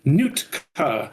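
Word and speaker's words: Nuitka: For those that aren't reading our notes, it is pronounced Nootka. Thank you. Newt, like the little girl from Aliens. Throw back to that awesome movie. Thank you. It is Nuka is a Python compiler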